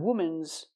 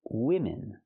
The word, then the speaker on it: women: Not woman's, it's women. Use the short I sound for both syllables.